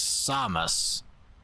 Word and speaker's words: Samus: The proper pronouncing is Samus.